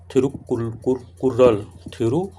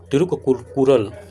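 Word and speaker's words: तिरुक्कुरल: पीसीएस में, थिरुकुर्रल, थिरुकुल्लूर, कभी कि ये जो यहाँ पर प्रोनाउंस की प्रॉब्लम है तो यहाँ पर कभी कभी थी लिख देता है, थिरु, ठीक ना, थिरु हो जाता है, तो यहाँ पर तिरुकुरल, तिरुकुरल, ठीक ना, अथर्वाइज थिरुवल्लुवर,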